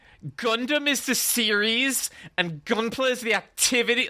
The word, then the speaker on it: Gunpla: into Forbidden Planet being like, sorry, where's your Gunpla? And the guy was like, oh, sorry, it's pronounced Gundam.